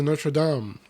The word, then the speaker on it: Notre Dame: lane then went to Notre Dame it's the American pronunciation and then went to Notre Dame close by the same